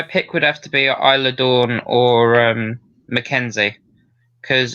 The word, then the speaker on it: Isla: mckenzie zaya brookside and isla dawn yes is silent oh okay history